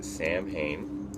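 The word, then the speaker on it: Samhain: out of the way hi my name is Sam Hayne spelled s-a-m-h-a-i-n the name itself comes from Salin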